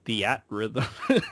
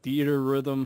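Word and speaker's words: Theatrhythm: one is theater Rhythm which I always Call theat Rhythm because that's how it's spelled but a theater Rhythm Final Fantasy Curtain Call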